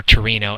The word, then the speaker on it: Torino: The next slide shows Avogadro's hypothesis, and he was another dead white guy from Italian, born in Turin, Italy, or Torino as they pronounce it.